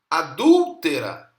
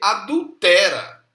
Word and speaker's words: adúltera: por exemplo na bíblia a palavra adúltera que é proparoxítona né acentuação tá na sílaba terceira né e ele lê adúltera que pelo menos na proposta do português geral né não tem acentuação e nem tão é paroxítona veja a pessoa até só